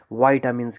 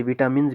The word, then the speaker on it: vitamin: बहुत सारे लोग जो हैं इसे विटामिन्स भी बोलते हैं। चलो आप कुछ भी बोलो, लेकिन मोर अप्रोप्रिएट प्रोनाउंसिएशन जो है वो वाइटामिन है, वाइटामिन नॉट विटामिन।